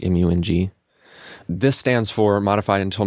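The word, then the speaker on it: IMYOUING: track from my album mu and g that's i-m-y-o-u-i-n-g but you say it like like m-u-n-g this stands for modified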